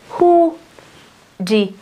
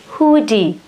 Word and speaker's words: hoodie: Thì chúng ta trọng âm nó là ở hoodie, hoodie, hoodie.